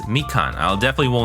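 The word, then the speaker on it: みかん: wrong all this time because we got the pitch accent wrong. But I think it's mikan, so it's high then low as opposed to low then high.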